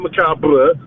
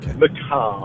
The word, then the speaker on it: macabre: And the word macabre, there you go, that's how you pronounce macabre. Not macabre, it's macabre. A couple of things.